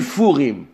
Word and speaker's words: Purim: Il est lu Furim. La prononciation de cette lettre est légère, rafée, comme affaiblie.